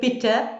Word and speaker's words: bitte: But I think when you're pronouncing E, you think of bitte, please, bitte.